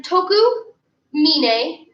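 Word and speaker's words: Tokumine: One more time, toku mine, spelled like mine, no kun, no dai.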